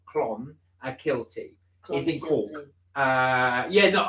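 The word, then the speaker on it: Clonakilty: moment no Clon a guilty Clon pronounced CL Clon a kilty is in uh yeah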